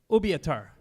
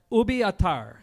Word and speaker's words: Ubiatar: Dominici from movie avatar well I'm mispronouncing that a pitar obeah tar will be a tar there we go but just think of